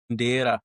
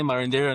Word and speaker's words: Marondera: Marondera. That's how people say it. But I mean, Marondera. I got the little accent in me, so I say Marondera now.